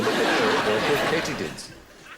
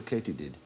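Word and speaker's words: katydid: small hooded and they're all called Sheila no K dids why might they be called a Kat did a ctid no it is actually pronounced K did because supposedly the sound they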